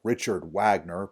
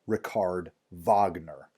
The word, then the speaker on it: Richard Wagner: We Americans would probably look at that and call him Richard Wagner, but he's German, so it's pronounced Richard Wagner.